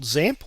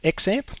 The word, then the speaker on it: XAMPP: ones is this tool called XAMPP, or some people pronounce it XAMPP, either way.